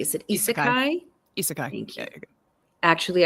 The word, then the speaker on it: isekai: Ooh, I want to make sure I'm pronouncing this correctly. Is it isekai?